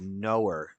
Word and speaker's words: Noerr: I thought it was Knorr. But it's knower. He knows stuff. He's a knower.